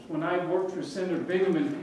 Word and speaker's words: Bingaman: I worked for Senator bingaman people didn't even know how to say his name name hard to influence somebody if you can't pronounce their name bingingham and I would say